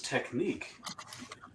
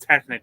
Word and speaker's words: Technic: guess i'm kind of liking this technique it's pronounced technic larry was i actually